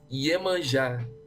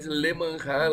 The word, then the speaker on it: Iemanjá: And that woman, it's Iemanjá. You said Lemanja like it was a L.